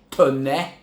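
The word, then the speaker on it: Taunay: tinha em Inocência de Visconde de toné que seria a pronúncia correto o Visconde de talai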